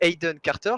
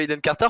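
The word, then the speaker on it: Aiden Carter: Alors du coup, Monsieur Hayden Carter, je prononce bien, c'est ça? Tout à fait, oui. Monsieur Hayden Carter, présentez-vous pour commencer.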